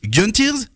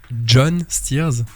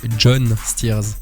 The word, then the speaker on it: Gjon's Tears: ou John steers alors c'est vraiment John Stears c'est pas un caprice d'avoir changé d'avoir mis GG mais en fait vraiment comment mon prénom s'écrit c'est Gigi en fait ça a des origines albanaises et c'est pour ça que ça se prononce John Stears ok bon ça m'arrange